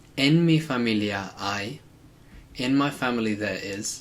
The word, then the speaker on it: hay: Now we could also say, en mi familia hay, in my family there is. Careful with the pronunciation here because I, H-A-Y, it's pronounced a bit like the English word for I, so the H is always silent.